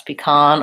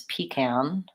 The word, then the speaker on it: pecan: both cases it's a it's second syllable stress pecan or can I maybe might hear also sometimes pecan with first syllable stress pecan pie pecan